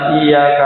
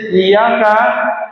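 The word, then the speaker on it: إِيَّاكَ: kepadamu ya Allah, kalau tidak pakai tasjid Iyyaka hanya ke sinar matahari. Na'budu saya menyembah wa Iyyaka dan kepada sinar matahari kita memohon pertolongan. Na'udzubillah min dzalik. Jadi yang penting niki. Jadi jangan sampai bacanya Iyyaka itu tanpa tasjid. Karena kalau tanpa tasjid yang kita sembah adalah sinar matahari.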